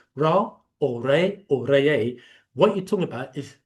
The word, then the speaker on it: Re: But what if that's the Greek rendition of the word Re, or more correctly, Reye? That's how we pronounce it, Reye, and Not Ra. not Ra. The proper tones, frequencies, and vibration will be Reye.